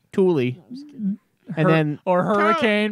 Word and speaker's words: Tooele: Tooele, T-O-E-L-E, like Tooele. No, and then or hurricane being pronounced hurricane.